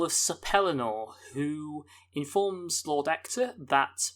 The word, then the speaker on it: Ector: sapelinor who informs lord actor that by the way it's called hector without an h that's not just us